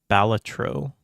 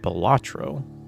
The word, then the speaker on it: Balatro: Like three syllables versus 2 syllables.